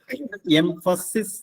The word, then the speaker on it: emphasis: അതിന്റെ ഉച്ചാരണം ശ്രദ്ധിക്കുക. എംഫസിസ് എന്നാണ്.